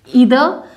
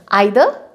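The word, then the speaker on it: either: तो each, ईदर एंड नीदर, आइदर, नाइदर, pronunciation दोनों ठीक है, राइट।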